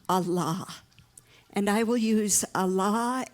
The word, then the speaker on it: Allah: not your jailer so the two syllables Allah contain both affirmation and negation all is the affirmative and La is the negative it means no you put them together